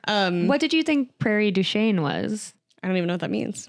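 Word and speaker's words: Prairie du Chien: Prairie Duchene, if you want to pronounce it not the French way, right?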